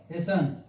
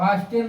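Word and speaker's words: hasten: Example देख लीजिए, जैसे एच ए एस टी ई एन, क्या होगा? हेसन, हेसन मीन्स जल्दी करना, जल्दी करना, हैसन मीन जल्दी करना, अब हास्टेल मत पढ़ना, हैसन मीन जल्दी करना।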